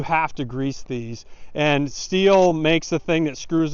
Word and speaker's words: Stihl: It's supposed to be pronounced Stihl, but everybody calls it Stihl.